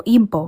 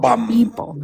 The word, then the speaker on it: Igbo: It's like B, like GB together. B. Oh, Igbo. Igbo, like a hard B.